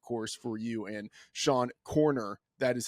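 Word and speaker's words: Koerner: Action, and of course for you and Sean Corner. That is how his last name is pronounced.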